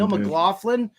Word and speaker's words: Jaleel McLaughlin: We got the we got the official pronunciation from Dustin. Thank you so much. So Dustin, Jaleel McLaughlin or Breece Hall.